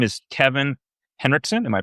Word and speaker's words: Henrikson: Um, his name is Kevin Henrikson. Am I pronouncing it correct?